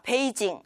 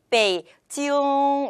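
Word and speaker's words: 北京: 페이지요 이라고 표현을 합니다 자 베이징 이 것이 아니라 베이 지 요 이렇게 코 끔 약간 간지러운 느낌을 살려서 표현을 하면 터 중국어 스러운 부터 정확한 발음으로 표현할 수 있거든요 이왕이면 우리말의 받침에 해당되는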